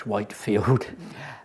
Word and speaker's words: Whitefield: And Charles and a group of friends, George Whitefield, as the Americans say, George Whitefield, founded the Holy Club, in which were given the derogatory title Methodists.